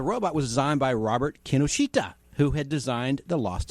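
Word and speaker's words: Kinoshita: after you how is the correct way to pronounce his name so i know it it's kenoshita the other day at the store the dog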